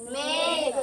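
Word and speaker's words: make: तो हो जाएगा में और के से बन जाएगा क और इस इ का कोई प्रोनाउंस नहीं करना है। ठीक है? सर तो क्या पढ़ा जाएगा इसे? मेक मेक क्या पढ़ा जाएगा?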